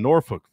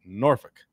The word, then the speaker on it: Norfolk: Virginia Tech and Old Dominion have cancelled four future scheduled games, including all three that were supposed to take place in Norfolk, Virginia.